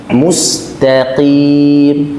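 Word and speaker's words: مستقيم: mustqim mutasyadid berlebihan mutasyaddidnya Pertama eh seakan-akan huruf q itu Ada gesekan mustim ya mustim ya barangkali mungkin dulu tahsidnya seperti itu maka kita katakan ini terlalu berlebih berlebihan pengucapan huruf q cukup Pada makhrajnya cukup pada makhrajnya kemudian keluarkan hurufnya Q Q tidak perlu digesek Q tidak perlu cukup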